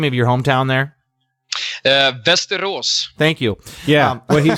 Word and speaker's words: Västerås: Västerås. Thank you. Yeah, what he said. It's beautiful. It is beautiful, but I was going to butcher it, so I wanted him to say it. Västerås, something like that.